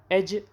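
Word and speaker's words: edge: It tipped over the एज ऑफ the tiled roof, जैसे ही वो roof छत जो कि टाइल वाली थी उसके किनारे पर, एज पर वो पहुंचा, एज यानी किनारा, इसमें डी साइलेंट है, मुसन्निफ ने उसे फ़ौरन पकड़ लिया।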